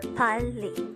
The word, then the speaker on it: 빨리: Pali could be divided into two syllables. Pali.